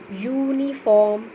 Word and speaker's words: uniform: यूनिफॉर्म, when you pronounce this word यूनिफॉर्म, यू में आपका बेटा वाई का साउंड आ रहा है.